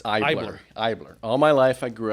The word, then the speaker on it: Eibler: e r so the E silent so it's ier all my life I grew up being called ebler sure but ier is the German pronunciation so I'm half German so ier is the correct pronunciation well it's you know